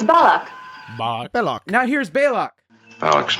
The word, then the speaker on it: Balok: So here's from Kirk. Commander Balak. Balak. Spock says. I regret not having learned more about this Balak. Balak. Uhura says. It's very weak. It's Balak.